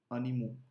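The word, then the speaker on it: animaux: The words which are ending in al, they becomes o, aux. Okay, where we don't pronounce the x. For example, animal is one animal and plural is animo, aux.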